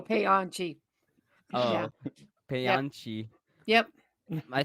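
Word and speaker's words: Paanchi: You got to pronounce Panchi. each A, so you go Payanchi. Oh, Yeah. Payanchi. Yep. I think Punchy is better.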